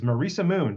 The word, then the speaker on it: Marisa Moon: in the show description my guest today is Marissa Moon did I pronounced that properly you did awesome awesome uh